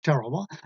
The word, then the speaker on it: Tarawa: That's spelled T as in Thomas, T-A-R-A-W-A, Tarawa.